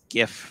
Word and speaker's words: GIF: going to jump into this GIF right here. And yes, I'm saying that with a hard G. We're not arguing about that today. But you'll notice. I say GIF also.